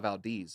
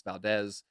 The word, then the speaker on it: Valdez: I'm like, my name's not Valdez, it's Valdez. Like, if you know Spanish, the E is pronounced eh.